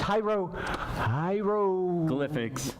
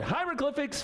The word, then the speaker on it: hieroglyphics: to know about these jairo hieroglyphics Gilligan it's called hieroglyphics fun with graffiti okay